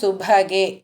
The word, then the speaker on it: சுபகே: தவாஸ்மின் மந்தார ஸ்தபக சுபகே. இதில் அந்த மந்தார ஸ்தபக, ஸ்தபகில் ப சொல்லணும். ப தான் சொல்லணும். பவை அழுத்தி சொல்லணும்னு இல்லை, ப சொன்னால் போதும். சுபகேல பவை அழுத்தி சொல்லணும்.